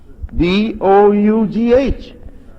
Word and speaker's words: dough: It's pronounced do too. D O U G H.